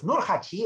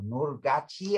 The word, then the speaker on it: Nurhaci: And if you've ever heard of Nurhaci or Nurhaci, as it can also be pronounced, then you usually